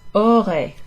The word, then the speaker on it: aurait: Aurait, like the word aura. In fact, that would be the third person singular, aura.